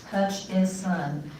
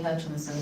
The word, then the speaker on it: Hutchison: There is no N in the middle of my name. It's Hutchison. Okay. Hutchison. I Hutchison. spell it, and people still call me Hutchinson, so.